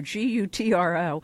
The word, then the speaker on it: Gutro: And by the way, we do have a winner who rightly pronounced Rob Gutro, Gutro.